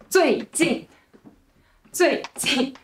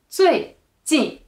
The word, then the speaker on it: 最近: It's like 最近. It's not 最近. Okay, so first one is lighter and shorter is 最近.